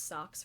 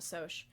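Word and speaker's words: Socs: they call them socials which i definitely pronounce socks for the longest time until my teacher pronounced in class um and so the greasers one of them ends up killing a soch um and eventually the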